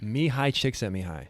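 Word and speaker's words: Csikszentmihalyi: times and i'm so afraid to try and pronounce it you nailed it me high chick sent me high yeah yeah yeah so let's go through them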